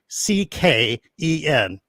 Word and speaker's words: Tecken: Teekcken.